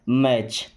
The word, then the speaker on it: match: मैच।